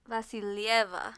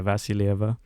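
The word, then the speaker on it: Vasilyeva: How do you say that last name? Vasilieva. Yeah, Vasilieva. So yeah, it sounds like Vaseline.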